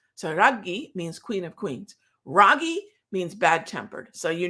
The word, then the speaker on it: Raghee: um my my uh my mother named me ragi right but she's from calcutta and she has indian pronunciation i do not i was born in virginia so ragi turned into ragi ragi means queen of queens funny how that little bit of emphasis emphasis makes a difference sorry means queen of